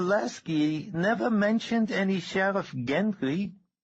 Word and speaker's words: Gentry: Lasky never mentioned any Sheriff Gentry." She gave his name a hard G.